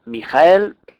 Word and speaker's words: Mihael: pues que se llama mijael si lo separamos en tres sílabas será mi mija mijael su número es el 48